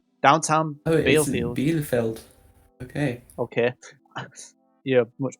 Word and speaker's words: Bielefeld: Bielefeld. Okay. Okay, you're a much better pronunciator than me.